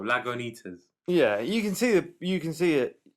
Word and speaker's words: Lagunitas: For we would speak it phonetically in the English language, Lagunitas or Lagunitas, but it's got a Spanishy feel, Lagunitas.